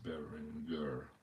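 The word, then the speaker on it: Berenguer: Win on Berengure. Bereng. It's Berengure. Berengure. Yeah, I gotta get my pronunciations correct here.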